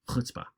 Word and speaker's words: chutzpah: By the way, chutzpah, we usually spell it with a CH to start with, but when you're looking at Hebrew words that start with a CH, it usually means that they're pronounced with an aspirated H at the beginning, kind of a sound. So chutzpah.